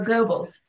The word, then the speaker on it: Goebbels: Oh, Goebbels.